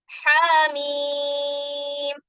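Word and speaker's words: حم: ഹാമീം. ഇവിടെ ഹ എന്ന അക്ഷരം 2 ഹർക്കത്ത് നീട്ടുക. മീം എന്നതിനെ 6 ഹർക്കത്ത് നീട്ടുക.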